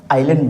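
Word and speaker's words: island: लिख दिया हूं आइलैंड इसको एस साइलेंट होता है एस क्या होता है साइलेंट होता है इसको बोलते पढ़ते कते क्या है आइलैंड पढ़ते हैं अब सबसे पहले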